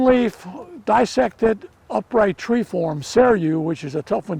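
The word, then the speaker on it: Seiryu: a a green leaf dissected upright tree form seru which is a tough one to spell it's s-e-i-r-y-u seru is one of the best and you're looking at cellu right now it has this sort of reddish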